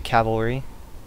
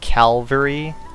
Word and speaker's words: cavalry: units here especially the cavalry oh yeah um i don't know i had done this before but some people sometimes mispronounce uh cavalry as calvary i've done that before